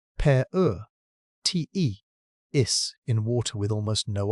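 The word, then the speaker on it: Paratethys: Oligosine and the rock it came from was laid down at the bottom of a sea called the Partheis pronounced per te is in water with almost no oxygen.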